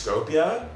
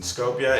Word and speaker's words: Skopje: dev team is from I believe it's Skopje um I believe that's how they pronounce it I think that's how they pronounce this in Scopia it's this really cool upcoming